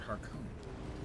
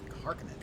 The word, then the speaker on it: Harkonnen: I believe Herbert pronounced it Harkonnen. Harkonnen is more appropriate for a name of Finnish extraction.